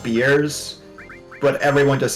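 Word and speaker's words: Bearss: of like in Florida there's that street that's pronounced beers but everyone just says bare ass Avenue you know the one thing it's bears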